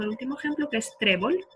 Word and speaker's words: trébol: Y lo mismo pasa con el último ejemplo que es trébol. Trébol es una palabra llana que no termina en N, en S ni en vocal y entonces le ponemos la tilde sobre la E.